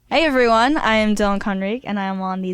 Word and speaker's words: Conrique: Yeah, everyone usually says it Conrique. Conrique. But it's Conrique, yeah.